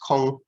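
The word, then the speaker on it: 空: You'll be aware probably that kara means empty, and it stems from a Chinese loanword which is pronounced kong in Mandarin.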